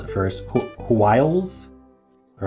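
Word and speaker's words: hwyl: Hwiles. All right, we're going to look it up. It's British for fervor or excitement. It's pronounced wheel. I think it's wheel. Or quill. Could be quill.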